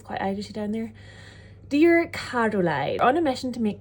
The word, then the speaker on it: Caroline: brother and sister cuz I just pronounced my name carine that's how people from strar say Caroline and I've like retrained myself to say my name with the O but yeah people from